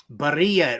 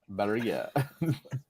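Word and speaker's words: Barría: Barria, it rhymes with diarrhea. Barria.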